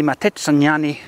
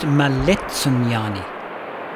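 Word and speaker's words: Maletsunyane: greatest but least visited waterfalls this is the matani waterfall the highest single drop waterfall in all of southern Africa actually it's pronounced malani it's 630 ft that's 192 M high this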